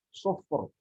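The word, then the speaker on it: صفر: Kenapa lafaz sufur di surat Al-Mursalat? Sufur. Ka'annahu jimalatun sufur. Kenapa dibaca tebal? Karena sebelumnya sukun, sebelumnya dhammah.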